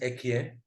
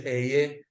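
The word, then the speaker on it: אהיה: We pronounce it Ekyeh, right? Or in the Pasuk version, Eyeh, Asher Eyeh.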